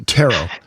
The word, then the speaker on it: Ptero: So my question is that Pteromalus or Ptero? No, Tero.